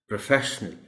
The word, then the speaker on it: professional: Like it's there in pronunciation, this word too is pronounced as professional.